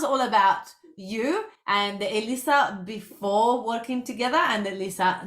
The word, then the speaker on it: Elisa: that say it correctly it's like me Lisa Mona Lisa all you have to do is sing and then you remember how it's spelled but people say Alyssa Alicia Alicia I get all sorts of weird and wonderful things but Europeans always say it right okay perfect I'm glad